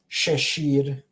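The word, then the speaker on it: šešir: So imagine SH if you're having trouble pronouncing this. You shouldn't have trouble pronouncing this though. But if you are having trouble, think of the SH. Try to replace the sh with an SH in English, and then that's how you would pronounce it.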